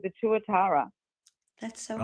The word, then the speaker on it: tuatara: in New Zealand called the tuatara.